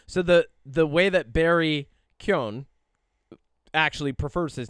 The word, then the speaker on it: Keoghan: So there's Keoghan, but it's Keoghan.